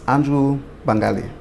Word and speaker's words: Andrew Bangalie: Can we start out, would you mind just saying my name is, and then pronouncing your full name for me? My name is Andrew Bangalie.